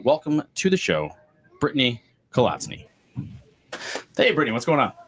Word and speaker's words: Kolatzny: So this week, this week, we have, I'm going to screw it up, even though it's just as it's spelled, Brittany Kolatzny. I think I got that right.